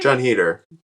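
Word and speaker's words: Heder: John Heater.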